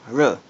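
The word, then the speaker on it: 日: R, bei, r, bei. Okay, let's write them. This is, if you're familiar with this, it's the Chinese character for first kanji for Japan. In Mandarin, it's pronounced r.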